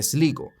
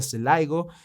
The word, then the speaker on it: Sligo: cámaras de seguridad de Sligo, que ahora me estoy dando cuenta que no se pronuncia así, se pronuncia Slaigo, pero bueno, ya estamos a la mitad del vídeo, compadres.